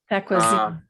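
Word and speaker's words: tacuazín: We, How do you spell it it? is What do you call it? taquasin, which is Taquasin? T-A-C, yeah, T-A-C-U, A-Z-I-N, taquasin. Taquasin.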